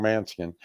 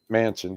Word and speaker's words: Manchin: Man, guys, say his name wrong. Manchin. Manchin.